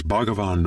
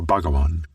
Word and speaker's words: Bhagavan: You can pronounce this as Bhagavan or Bhagawan.